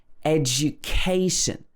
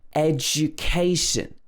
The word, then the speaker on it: education: For example, words that end in shun will often be stressed on the syllable before the shun. For example, education. The K comes before the shun, so we stress the K. Education.